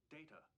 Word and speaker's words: Data: tune is heard during dad is it is pronounced data oh you called me data what is my name the other is not